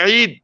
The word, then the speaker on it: ঈদ: যেমনি ঈদ দীর্ঘিকার দিয়ে লেখা, এটা আরবি যে শব্দের ভাষায় চার আলিফ মদ এবং 2 মাত্রা বা 4 মাত্রা থাকে, বা আইন 2 মাত্রা থাকে, ইয়া থাকে, এটা উচ্চারণ দীর্ঘ মাত্রা হবে। আর যদি শর্ট মাত্রা করেন, স্বল্প মাত্রা করেন, ওটা অর্থ বিকৃত হবে।